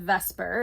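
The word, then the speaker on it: VSEPR: model that we're working with here is called vesper is how we pronounce this acronym and it stands for valence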